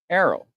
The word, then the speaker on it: Errol: She says like Carol, but no C. Errol.